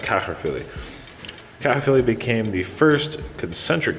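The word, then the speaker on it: Caerphilly: Water would surround his castle at Caherphilly completely, and that's how it's pronounced, Caherphilly.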